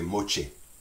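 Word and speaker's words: moitié: Louisiana French we say mochi la mochi we pronounced that ti in the middle as this CH so you see that's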